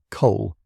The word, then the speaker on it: Cole: Pronunciation: Cole Standard, a customs official with ties to Harro's imports.